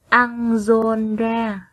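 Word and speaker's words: Ăng-giôn-ra: Trước khi đọc, các con lưu ý phát âm đúng một số tên nước ngoài. Các con đọc theo cô nhé. Garrot, Anjolra, Cuốc Phây Rắc.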